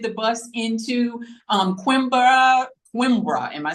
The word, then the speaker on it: Coimbra: Coimbra, am I saying that right?